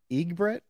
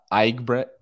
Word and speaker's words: Eigbrett: up it's all good how you say it uh ibret IG Bret is that what what what is that is that a German it's German German unfortunately weird weird German